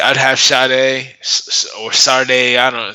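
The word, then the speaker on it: Sade: have shot a or sarday I don't know so many people weren't pronouncing this so differently the last 30 years um not Sadie yeah not Sadie I think said he's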